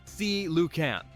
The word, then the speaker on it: coelacanth: Now let's talk about one of the most mysterious living fossils, the coelacanth, pronounced coelacanth.